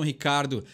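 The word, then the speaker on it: Ricciardo: tem aqui no Brasil mas os americanos conseguem pronunciar o nome dele do jeito que a gente escuta Ricardo no Brasil então quando eles falam Ricardo lendo da forma que escreve o nome dele do piloto eles pronunciam corretamente ele Oi Lê ou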